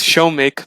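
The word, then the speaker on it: Shoumik: ac uh this is sumik right how do you say your name it's show make but uh it's easier to pronounce um yeah um yeah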